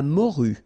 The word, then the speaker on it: morue: Le thon, la dorade, la morue. Final E not pronounced.